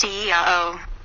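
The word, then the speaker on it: IAO: Vibrate 4 times the God name, Lao, pronounced Eao.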